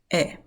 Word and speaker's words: é: say ' meu nome é,' 'meu nome é.' What's interesting here that you can notice is we have once again that particular accent opening the sound of the 'e', of the vowel, right?